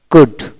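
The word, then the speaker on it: could: তারপর আসেন এইচ এ এল F, half, half, H এ F, half, half এখানে এল উচ্চারণ হবে না। সি ইউ ডি, কুড, কুড।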